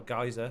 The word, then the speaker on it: geyser: someone's on about having a gigs or a geyser depending on how you pronounce it wherever you're from there's one right here look